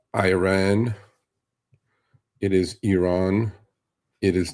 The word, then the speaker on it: Iran: air campaign um in the Middle East, specifically Iran. And uh so folks for most of you who listen to the news media it is not Iran it is Iran it is not Iraq it's